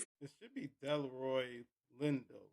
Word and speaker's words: Delroy Lindo: Lindor Leroy that is how you say his name is it should be Delroy Lindo Lend.